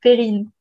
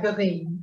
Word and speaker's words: Perrine: Oh, in French, you will say Perrine. Perrine? Yes. Yeah, Perrine.